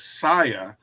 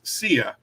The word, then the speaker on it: Sia: Now, I was always under the impression that her name was Saya, but when I looked up how to pronounce her name, it actually is Sia.